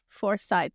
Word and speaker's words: Forsyth: Forsyth, which is located where in Georgia?